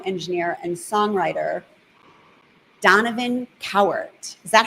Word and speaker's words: Cowart: Her dad, a celebrated sound engineer and songwriter, Donovan Cowart.